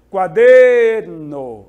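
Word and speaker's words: cuaderno: imaginar aqui uma palavra caderno no espanhol quaderno olha der foi essa que é mais forte aquela que eu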